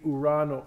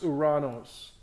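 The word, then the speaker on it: Ouranos: But if you're in Greece, the pronunciation would be Urano. Anybody here from Greece or speak Greek? Okay, it would be, because I don't want to be contradicted, but I think it's pronounced Uranos. And the last, so U-S is kind of an Anglicization of that Greek word.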